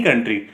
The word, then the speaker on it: coup: democratic government of any country it's called a military कू ठीक है जो सीओ यूपी है इट्स प्रोनाउंसड एज कू तो ये पाकिस्तान में